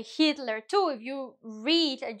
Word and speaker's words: Hitler: We say Hitler, too. If you read and you're going to read a speech about Hitler in your uh in your cla in your classroom, um you're going to pronounce the H.